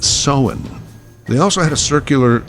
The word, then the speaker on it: Samhain: Now, it is spelled Samhain, but it's pronounced Samhain.